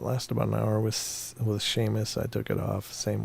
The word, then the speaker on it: Seamus: I don't know where the SH comes from with Seamus.